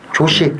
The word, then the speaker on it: 조시: 왜냐하면은 조시가 났으니까요. 그렇죠. 예. 발음을 쳐줘요. 조시. 조시. 컨디션. 조시. 조시. 예. 카쿠시. 예? 그렇죠. 어우, 정통 발음인데. 그러니까요. 조이라고 그러면 안 돼요. 조시라죠.